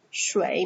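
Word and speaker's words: 水: water water here what i mean it is pronounced as shui means water okay so easy just imagine this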